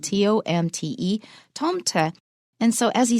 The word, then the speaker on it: Tomte: It's spelled T-O-M-T-E, Tomte.